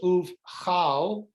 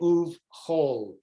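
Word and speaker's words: ובכל: So uv, you would think it was uv chal, but it's actually uv chol.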